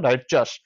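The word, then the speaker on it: righteous: চাষ কোনটা হবে দেখো এটা অনেকে উচ্চারণ রাইট ইয়াস করে কিন্তু রাইট সঠিক উচ্চারণ নয় রাইট চাষ এটা হচ্ছে সঠিক উচ্চারণ ন্যায় পরায়ন তাহলে দেখতে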